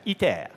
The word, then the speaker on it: ITER: Now, this is ITER, pronounced in French, ITER.